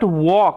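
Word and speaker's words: walk: cannot এরকম ভাবে okay I cannot ওয়াক এখানে এল সাইলেন্ট ওকে বাট কিন্তু তবুও আই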